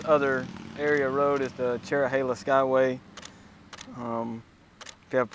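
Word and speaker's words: Cherohala: of the word Cherokee and Nala so it's cherro Hala um connects the two Indian Reservation areas together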